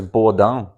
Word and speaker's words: Bordin: the felisin heck um bordin I'm pretty sure it's bord in it would be it's a French name and it's pronounced bord but I don't want to be that guy um and I'm not